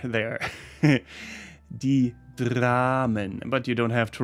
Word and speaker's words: Dramen: And the plural in German would be die Dramen. Das Drama, die Dramen. Not die Damen, that is the ladies, but die Dramen with an R there. R there. Die Dramen.